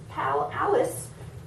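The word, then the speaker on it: pal-alice: Your big birthday party soon starts to begin in the finest pal Alice you've ever been in. That is not a real word, pal Alice. Did you get that? It rhymes with Alice.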